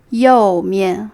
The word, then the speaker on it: 右: the right side and right side is yo like yo yo yo or yo bien so